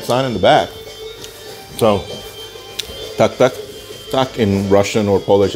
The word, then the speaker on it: Tak Tak: So what is the name of this place? Tak-tak. And it's spelled T-A-K-T-A-K. So in Polish, it would be, yes, just like that.